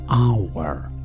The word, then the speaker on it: hour: day time ساعة hour انتبهوا لهذه الكلمة، لا ننطق فيها حرف H في الأول. hour hour، ساعة hour، دقيقة